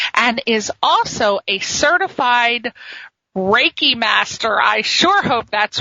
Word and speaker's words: Reiki: It is pronounced Reiki.